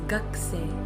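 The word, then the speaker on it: 学生: Although we write it as gakusei, we pronounce it as gakusei, gakusei, as if the u from ku disappears.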